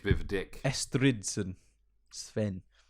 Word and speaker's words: Sweyn: Sven. Or Swen. Sween? It's spelled Sweyn, but I'll just say Sven.